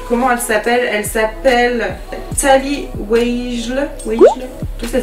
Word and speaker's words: Tally Weijl: Elle s'appelle Tally Weijl. Tout ça s'écrit W-E-I-J-L.